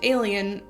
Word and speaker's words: Aelian: Yet another Roman guy named Aelian - it's spelled A-E-L-I-A-N.